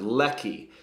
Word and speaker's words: leki: problems with pronunciation sometimes you got to make all of your eyes into a long e sound leaky and your e into an eh sound Ley so Ley is to